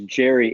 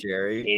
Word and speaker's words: Jerry: uh my club we decided are we going Gary or Jerry his name's Jerry it's g-e-r-r-y that is no Gary is g-a-r-y yeah yeah I understand what you're saying but Michael is correct it is pronounced Jerry it's Jerry and he's even said it like